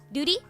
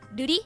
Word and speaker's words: Ruri: Tapping means the R's are rolled. So, let me just use a different name. So if the name's like Duty, R-U-R-I, we would say Duty if we're tapping it, and Ruri if we're not.